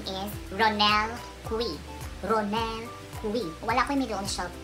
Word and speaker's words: Cui: So, dapat, pretty people, kung katong nakailanan na ako, ang pagtawag sa kuwa is Ronel Cui. Ang pagpronounce sa akong last name is Cui. As in, K-W-I, Cui.